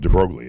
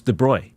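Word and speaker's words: de Broglie: I pronounced it drogly. Is that not right? My high school physics teacher Walt Nazareno uh said right away that first class saying in French it's de Bruy in America we say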